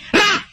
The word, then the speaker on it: Ra: Egyptian sun god. One syllable yan. Ra!